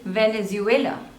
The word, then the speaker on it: Venezuela: Ukraine Ukraine Ukraine Ukraine next is Venezuela Venezuela Venezuela there are total three syllables and the stress is on the third Venezuela next is Vietnam Vietnam